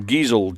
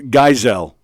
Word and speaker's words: Geisel: yep spelling bee um who was Theodore gazelle giesel Giselle whatever who's he better known as uh oh see there you go Andy bajanos it's pronounced Geisel Theodore Geisel because he knew it it's Dr